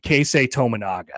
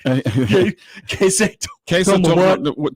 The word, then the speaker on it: Keisei Tominaga: Charles Barkley is going to be amazed by a guy on Nebraska's team named Keisei Tominaga. Keisei Tominaga? He's going to pronounce it wrong. I can guarantee you that. Keisei Tomagana?